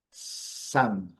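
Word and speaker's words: psalm: Aqui, interessante, o sal, Sam, porque o P não é pronunciado e o L também não.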